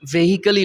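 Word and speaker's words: vehicle: যেরকম ভেহিকল শব্দটা, সো ভেহিকল কিন্তু লেখা হয় ভেহিকল, আর পত্রপত্রিকায় বিশেষ করে বাংলা পত্রিকায় ওই ভেহিকলই লেখে। তো এটার উচ্চারণ হচ্ছে ভেহিকল।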